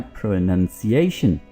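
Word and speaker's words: pronunciation: आप इसको क्या बोलेंगे इसको आपने बोलना है प्रोनंसिएशन प्रो नन देखि इसमें ओ तो नहीं है इसमें ओ है प्रोनाउंस करना यानी अदा करना बोलना इसमें तो ओ है ओ यू इसको आप प्रोनाउंस ही बोलिए लेकिन इसमें देखिए इसमें ओ नहीं है तो यह लफ्ज क्या है प्रोनंसिएशन जी हां ओके सो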